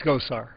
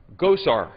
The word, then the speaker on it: Gosar: My good friend from Missouri, it's Gosar. Gosar. Yes. Gosar.